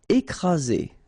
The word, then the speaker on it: écraser: Écraser. Okay, double vowel, only one S, Z, and then you've got the first accent aigu, écraser.